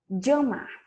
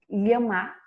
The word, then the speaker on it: llamar: Eu prefiro pronunciar com som de DJ. Llamar. Essa palavra significa chamar no português. Eu posso dizer llamar com som de LH, llamar com som de DJ, llamar com som de J, llamar com som de I.